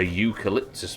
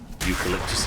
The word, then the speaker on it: eucalyptus: A eucalyptus plant. Damn, that is a good example. It's U. It's U's pronounced as Y's, right? Yeah, eucalyptus is a very good example.